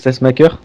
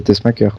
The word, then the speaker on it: Tessmacher: donc ça se prononce Tessmacher. Tessmacher, oui. Oh merde. Ce sera pour la suite. Tessmacher. Oui, c'est comme le pacemaker, c'est Tessmacher.